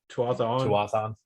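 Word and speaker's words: Tuatha'an: Tuathan. Yeah, that one. Yep. You said it right.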